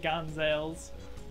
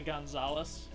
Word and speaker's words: Gonzales: great gonzales gonzalez gonzales i always call them great gun sales on my first playthrough but it's actually gonzales it's great consoles fine